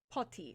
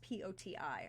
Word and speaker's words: Poti: Poti, I believe is how it's pronounced, Poti, on the eastern coast of the Black Sea.